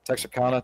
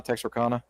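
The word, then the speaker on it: Texarkana: My friend who lives in was I can't pronounce it right. Is it Texana? Texraana.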